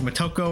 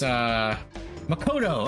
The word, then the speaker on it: Makoto: I don't think it's Motoko or P5. Moko? No, what's her name? It's Makoto. Okay, I switched the T and the K. That's funny. It's Motoko. Makoto.